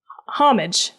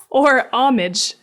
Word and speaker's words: homage: some research last episode, it is pronounced homage. or homage.